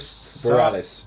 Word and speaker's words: Bareilles: We're going with Bareilles.